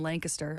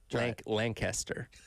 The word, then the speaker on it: Lancaster: that's pretty good you you drew it out a little bit like you got to shorten it compress it a little bit I I you know